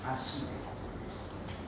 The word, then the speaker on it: architecte: La personne qui va construire, c'est un ou une architecte. Donc ici, on va prononcer le che. Architecte, architecture, architecte. Comment s'appelle la cathédrale?